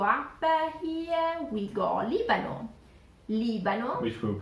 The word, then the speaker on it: Libano: Libano. Which we will pronounce as Lebanon. Yes, yeah. Yes. Libano. Repeat it. Libano.